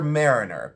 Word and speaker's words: maireener: So it's not spelled like mariner, but it is pronounced like that.